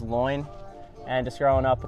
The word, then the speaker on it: Loynd: Dugout I like it my last name is people pronounced as loin and just growing up